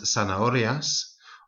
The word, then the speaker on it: zanahorias: Might also be worth mentioning at this point that Z in Latin America and in the south of Spain is pronounced more as a S. So unas zanahorias or unas cerezas.